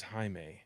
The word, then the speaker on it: Jaime: It's not Jamie. It's Jaime? Yes, it is not Jamie. It is Jaime. Sorry, Jaime. He is Mexican, so he has an awesome name. That is the way it's pronounced.